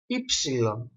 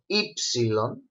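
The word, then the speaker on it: έψιλον: Next letter is the letter Epsilon. It is pronounced E.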